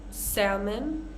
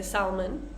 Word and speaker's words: salmon: We also have calf, half, salmon, although many native speakers say salmon. It's supposed to be salmon, talk, walk, yoke.